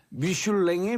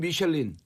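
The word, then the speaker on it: Michelin: 네. 미슐랭의 미셸린이에요. 이게 이제 영어로는 미셸린. 네, 영어로는 불어 미슐린이고 발음으로 미슐랭. 불어로 하면은 미슐란에 갈까요? 미슐란.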